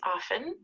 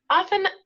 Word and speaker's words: often: to usually is often often has a letter t which sometimes we pronounce and sometimes we don't some people say it some people don't so if you hear often and often it's the same it's the same word often means a little